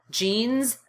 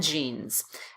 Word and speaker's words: jeans: Our next word pair is jeans and jeans. They're both pronounced jeans. So don't forget that that S at the end is actually pronounced like a Z.